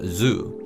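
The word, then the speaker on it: づ: voice the D sound however there were two exceptions the second character is pronounced as G and the third character is pronounced as Zoo so in essence they are pronounced exactly the same as G and Zoo from zedro now an important point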